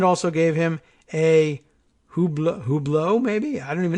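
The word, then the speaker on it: Hublot: $20,000 you can bet I don't know how to pronounce that hu b l o t are we giving it the French pronunciation $20,000 watch maybe it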